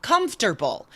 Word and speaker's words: comfortable: The first one, which I hear mispronounced all the time, comfortable. We just, the O in the middle just magically disappears, right?